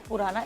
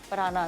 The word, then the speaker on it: prana: इट्स नॉट पुराना, इट्स प्राणा ना। या इट्स प्राणा, लोग कहेंगे वो पुराने योगी की बात करें, नहीं Okay. इसका स्पेलिंग जो है वो पुराना, PRANA P for Pakistan, RANA, प्राणा।